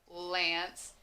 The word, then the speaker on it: Lance: said this the name lance you don't hear a you just hear a ants l says our n says and c e makes that s sound that soft c so i think i